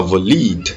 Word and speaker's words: valid: On ne dit pas valide, on dit valid. Valid. L'accent est sur le va.